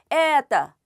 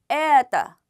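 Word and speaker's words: это: 원칙을 지켜 주셔야 되죠 높고 길고 강하게 에다 에 에다 그래서 어 길게 에다 하고 읽으면 약간 따처럼 발음이 됩니다 그것은 어 들리기에 따처럼 들리는 것이지 여러분들이 발음 하실 때 에라고 발음하시는 건 아닙니다 에따 에따 에따 예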